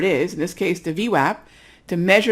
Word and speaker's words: VWAP: All right, so the pronunciation is V as in app, right? VWAP, that's how you say it.